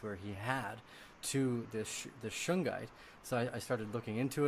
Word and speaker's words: shungite: A friend of mine I spoke with the day afterwards, after that interview, and he brought up that he had been taking shungite.